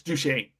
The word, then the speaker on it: Duquesne: The British forces capture Fort Duquesne, I think is how it's pronounced, from French control. Duquesne. No, Duquesne. I asked the French person. It's Duquesne. At least that's how we pronounce it here in America.